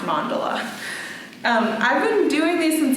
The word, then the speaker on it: mandala: Some people say the mandala, but Wikipedia told me that it's pronounced mandala.